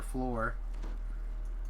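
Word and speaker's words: Phlor: Oh, I thought you were mispronouncing flower. The higher. No. No, Floor. And Spell his name P-H-L-O-R. and also F-L-O-R.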